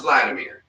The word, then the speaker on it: Vladimir: Well, it's pronounced Vladimir, but I always can put the W in there because it's the. Oh, all right. It's Vladimir, but it sounds like Vladimir, but it's Vladimir with the W.